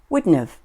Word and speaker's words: wouldn't have: her book at school wouldn't have becomes wouldn't've or Witness I wouldn't